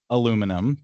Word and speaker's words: aluminum: How do you pronounce that in American English and how do you pronounce that in British English? Yes. Uh, that is aluminum to us Americans.